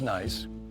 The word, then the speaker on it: gneiss: So, this is where the the hard what's called nice rock, g n e i s s. Nice. Uh pronounced nice. Gneiss is what it looks like.